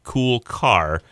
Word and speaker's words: Kulcar: And for everybody who's listening, that's spelled Kulcar, cool car.